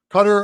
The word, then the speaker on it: Qatar: Bosnia, and it has Qatar in it or Cutter as people would say. Uh the proper pronunciation of it is Cutter or are not a threat in this group.